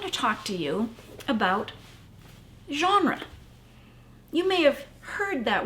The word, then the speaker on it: genre: it's not english it's it's french it's a french term it's got that sound in it that actually is made by the letter g g e n r e is how genre is spelled what's interesting about genre